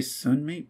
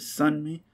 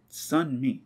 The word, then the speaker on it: Sunmi: wrong this whole time i always say sun mate but is it sun me uh yeah i feel